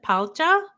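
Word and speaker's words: 팔자: And there is she does have that whole thing with um it's like pala like p the way it's spelled out uh like phonetically p a l ja um which is fate which is like your destiny your fate.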